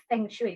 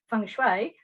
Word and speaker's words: feng shui: So I decided to look into this so-called Feng Shui, which I now know is pronounced Feng Shui.